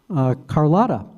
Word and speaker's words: Carlotta: was listed there was Carlotta. And that's how that is pronounced from what I'm told by Lois.